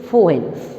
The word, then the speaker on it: Foehn: The second wind is Foehn. We pronounce it as F-O-E-H-N. It is pronounced as fun.